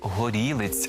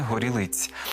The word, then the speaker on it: горілиць: звучить набагато краще от Зверніть увагу що наголос падає на другий склад Горілиць а не Горілиць а обличчям униз долілиць